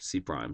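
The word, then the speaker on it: C′: marks above them and we pronounce that c prime that's how you say the c with the tick mark c prime so triangle abc reflects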